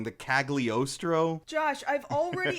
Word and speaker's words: Cagliostro: and the I'm gonna say this wrong the cagliostro Josh I've already how many times have pronounce the G in caliostra yeah caliostio just like the lupon yeah everybody gets that wrong it's not Castle hagliostro it's caliostro the silent okay Ood I live to upset